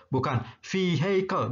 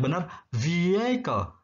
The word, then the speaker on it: vehicle: Nah, ini huruf H-nya tidak dibaca ya. Bukan vehicle, bukan. Tapi yang benar vehicle, kendaraan.